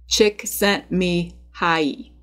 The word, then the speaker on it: Csikszentmihalyi: And let me just pause here to address his name, because it definitely looks like it doesn't have enough vowels and is unpronounceable. But despite the scary spelling, it is pronounced Mihai Csikszentmihalyi.